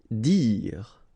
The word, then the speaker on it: dire: Dire. Same thing here, you don't insist on the final okay, dire.